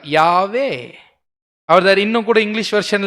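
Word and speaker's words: Yahweh: பட் அதுக்கப்புறமா இது எப்படி சொல்லணுன்றதுக்காக, ப்ரொனவுன்ஸ் பண்ணுன்றதுக்காக வவல்ஸ் ஆட் பண்ணாங்க. வவ்வால் இல்லை, வவல்ஸ்னா என்ன அர்த்தங்க? ஏஇ அப்படி ஆட் பண்ணி என்ன சொன்னாங்க? யாவே.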